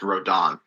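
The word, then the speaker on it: Rodin: Roden when it's pronounced rodon okay um why I've never played bayetta so I've played a bit of it and you know that's how Sakurai pronounces it so oh okay um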